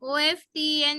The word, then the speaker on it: often: O-F-T-E-N is often. T Yes. is silent.